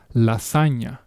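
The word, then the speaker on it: lasaña: So for us, it will be read as lasagna. Okay? Once again, lasagna. Notice the change in the vowels compared to the pronunciation of lasagna. Okay? It's different. That GN sound is the closest sound I have to this.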